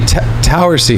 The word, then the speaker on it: Towersey: Like a Z, but it's really not. It's S-E-Y. So Tower with a S-E-Y on the end. Towersey.